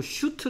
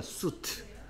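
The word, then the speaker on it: suit: 있어서 학생들이 이거 자꾸 슈트 하고 있는데 수 태아 수트 수트 뜻 슈트 꼴의 shot 슛 이건 쑤 튼 무 3 4 이걸 슈트 라고 발음을 이유가 하나도 없어 sh 가 있어 의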